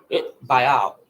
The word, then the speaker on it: Baal: Be on guard, lest there be a thought of, how do you pronounce that word, Cheryl? Belial or Baal, okay? Baal.